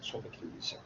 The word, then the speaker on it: Sophocles: Someone can Sophocles in Arabic as Arabic pronunciation, but the English pronunciation or articulation is Sophocles.